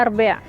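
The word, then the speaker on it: الربيع: dalam bahasa dari jrb tulisannya Robiah Tapi bacanya arbea ini foto suami ditemuin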